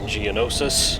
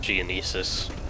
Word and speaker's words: Geonosis: is in hive on geonosis i'm glad i learned how to pronounce it because i remember in the complete saga playthrough i kept calling it geonesis oh well whatever it's